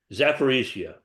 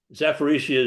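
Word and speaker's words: Zaporizhzhia: Now, Sandra asked about the nuclear power plant in the Ukraine, in Ukraine, sorry, not the Ukraine, Zaporizhia. I even learned how to pronounce it. Zaporizhia is really close to the Russian side of Ukraine, and the Russians took it over.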